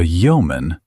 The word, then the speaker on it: yeoman: A yeoman, pronounced yeoman, is a man holding and cultivating a small landed estate, a freeholder.